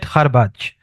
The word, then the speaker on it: Kharbech: Hello Mid Kharbaj, welcome to the show.